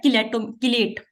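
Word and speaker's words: chelate: अक्सर आप किलेट बनते हैं इसमें, ठीक है, आप किलेट भी पढ़ रहे होते हो, चिलेट बहुत लफ्ज गलत है, जो प्रॉपर प्रोनाउंसिएशन है वो है किलेट।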